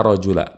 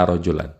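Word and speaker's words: رجلَ: kemudian rojola ya Rojo makanya kita bacanya ala rojula bukan la rojulan kemudian qoimun sebagai khobarrullah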